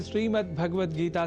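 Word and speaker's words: श्रीमद्भगवद्गीता: जिसमें श्रीमद्भगवत गीता से जुड़े विभिन्न उपक्रमों का आयोजन भी किया जाता है।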